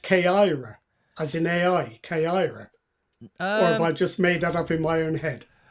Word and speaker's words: Caira: I've got a feeling it ought to be, should it be pronounced Caira, as in AI, Caira?